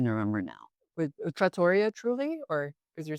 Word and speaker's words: Trulli: This is that's spelled, Trulli. Yeah. oh, yeah, Truly, okay. So that was right? Aliso Viejo, Yeah, Lisa Viejo. and then Truly, like, Truly Yours, Oh, Truly Yours. but it's just Truly.